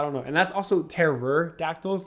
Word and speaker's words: pterodactyl: And that's also Terror-dactyls, not Pterodactyl, just so you know.